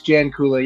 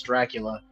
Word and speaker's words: Jancula: It's as I stated before we were talking, it's a weird last name, and I get a lot of bad pronunciations of it. I think my favorite one that I've gotten was Dracula, yeah, which okay, sure, why not, right?